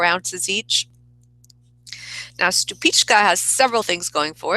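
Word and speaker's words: Stupice: I've always been told it's pronounced stupichka, but I've also heard it pronounced stupitz, however you say it.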